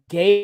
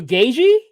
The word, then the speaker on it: Gaethje: Gaethje? Actually, the T and the H are silent. So Gaethje? Yes, Justin Gaethje.